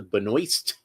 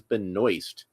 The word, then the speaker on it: Benoist: It's Melissa Benoist. That's how she pronounces her name. I looked it up. I found video of her saying her own name, and she says Benoist.